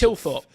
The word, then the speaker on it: Thilthorpe: Like, I hear Tilthorpe, Philthorpe. There seems to be too Ian many. Thorpe. There's too much. It's Tilthorpe.